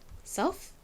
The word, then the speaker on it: soft: 앞에 좀 강조를 해주셔야 돼요. 따라해보세요. soft. 한 번 더 해볼까요? soft. 좋습니다. 앞에는 딱 강조가 되고 끝에 FT 발음은 바람이 훅 빠지듯이 소리가 잦아들죠.